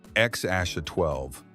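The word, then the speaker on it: X Æ A-12: People struggled to pronounce it until Musk said it was X Aasha 12.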